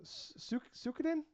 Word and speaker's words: Suikoden: So they said that Suikoden, is that, am I saying it right? Suikoden. Yeah, okay. I'm only have that one because I can't pronounce it.